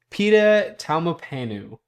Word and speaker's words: Pita Taumapanu: This is Pita Taumapanu. I learned how to pronounce his name, of the St.